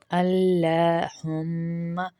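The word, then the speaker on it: اللّٰهُمَّ: اللہم، اللہ، لام کو پتلا نہیں کریں گے، اللہ، لام کو موٹا کریں گے کیونکہ اللہ کے لام سے پہلے زبر ہے، اللہم۔ اور یہاں پر ہم دوسری غلطی کیا کرتے ہیں؟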